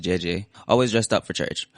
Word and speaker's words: Gigi: My godmother Gigi, pronounced JJ, always dressed up for church.